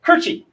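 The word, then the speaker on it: Koertge: pronounce his name um i would i would say this is cortez but it's ron kirchy so ron kirchy has a poem called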